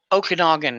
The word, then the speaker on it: Okanagan: And I feel, Okanagan is how it's said, by the way.